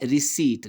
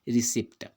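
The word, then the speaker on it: receipt: क्रिया के लिए, ठीक है, तो ये इसका उच्चारण क्या होता है, रिसीट, ना कि रिसिप्ट।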